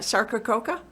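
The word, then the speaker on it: Sarcococca: box sarkacoka so how do you say that sarkacoka did i get that yeah you said it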